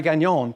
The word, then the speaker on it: Gagnon: Hi, I'm Gagnon, pronounced like filet mignon.